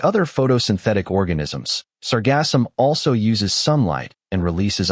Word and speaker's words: Sargassum: Sargassum, pronounced Sargassum, is a group of brown, free-floating algae.